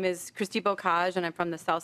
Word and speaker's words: Bocage: Is Christy Bocage here?